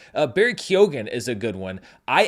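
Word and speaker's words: Barry Keoghan: recent interview where he says actually no it's Barry Keogan I just say it differently than everyone else in Ireland so I had corrected my what I thought was my mispronunciation of Barry Keogan to Keon but now it's back to kyogen and then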